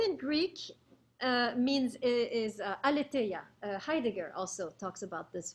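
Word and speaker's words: aletheia: with that truth in greek means is uh aletaya heidegger also talks about this word truth same word alite let me spell it for you a l e t h e i a alitea okay that's the greek word for truth now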